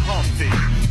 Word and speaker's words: Humpty: myself my name is humpty pronounced with the empty yo ladies oh how